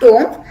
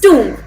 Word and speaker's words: tomb: this word is true it's not tom it's tomb we write the spelling of this word is t o m b but we write a we pronounce it as two the o sound here it's pronounced as oo uh coming to the